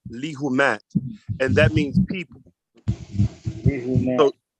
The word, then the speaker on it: Lehumaat: And that's pronounced lihumat.